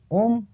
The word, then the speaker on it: ओम: मैं आपको बता दूं ओम तीन शब्दों से मिलकर बना है। आ, ओ और म।